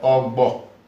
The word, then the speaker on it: Ogbo: It is called Ogbo in Ẹdo language. Ogbo. Again, you see the letter there, visible, and you can also feel it in the pronunciation.